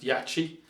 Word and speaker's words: Yaqi: happy to support um yaki with with that um or is it yachty i don't know whether it's yatchy or yaki sig i think did some research and found out it's pronounced yatchy but there we are